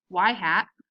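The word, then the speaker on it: ŷ: expressed in the form y hat which is what that little arrow is pronounced as y hat equals a plus b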